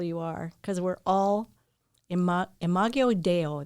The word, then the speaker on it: Imago Dei: Don't be afraid to grow and to let people know how beautiful you are, because we're all imago Deo. That's how you say it. Imago Dei.